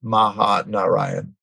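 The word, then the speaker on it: Mahanarayan: an herb called or oil called mahaan I'll spell that it's m a ha a n a r a y a n Maha Narayan and this is the number one muscular skeletal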